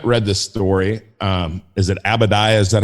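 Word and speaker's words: Obadiah: And if you haven't read this story, is it Abadiah? Is that how you say it? That is right. I don't know the story you're going into, but it's Abadiah.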